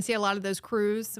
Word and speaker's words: Krewe: You're going to see a lot of those crews. When we say crew, we say crew with a K.